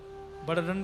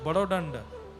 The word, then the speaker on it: बड़दंड: बोलते हैं उसको, बड़दंड, बड़दंड बोलते हैं, बड़ो दंड, बड़ो दंड हाँ, हर है तो शब्द बड़दंड ही, पर वह उड़िया प्रोनाउंसिएशन में बोलेंगे बड़ो दंड।